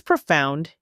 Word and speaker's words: profound: profound when something is profound it shows deep meaning or Insight if you're practicing pronunciation try that word again profound notice how the emphasis is on the second syllable that idea about perspective